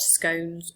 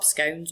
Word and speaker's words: scone: may be called dropped scones or dropped sorry Dro scones or dropped scones scon depending on how you pronounce that and in Wales